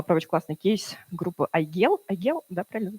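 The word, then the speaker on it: Aigel: Вот недавно я прочитала про очень классный кейс группы Айгел, да, правильно произносится, которая уже после, кстати, очень популярная, записали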